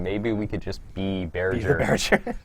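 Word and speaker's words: Bearger: Questions about the I don't actually know how to pronounce that monster's name. Berger? Berger. Berger is how you say it?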